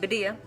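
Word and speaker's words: Badia: have cinnamon i use badilla that's how you say it vadiyah cinnamon sticks these are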